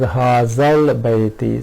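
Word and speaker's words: هذا البيت: ignored this hamzatul wasl, the pronunciation is hazal bayti. So lam has been pronounced here, while in shita and sayf, those were sun letters, lam was not pronounced at all.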